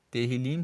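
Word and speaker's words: Tehilim: Terrilim se escreve T-E-H-I-L-I-M e significa louvores.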